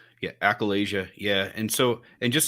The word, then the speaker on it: achalasia: man and uh am i saying it right accoladia yeah accolasia yeah and so and just so you know